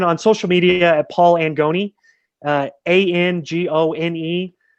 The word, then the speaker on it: Angone: social media at paul angoni uh a-n-g-o-n-e it's very italian uh my middle name's anthony so i could be angoni is actually the pronunciation you know of this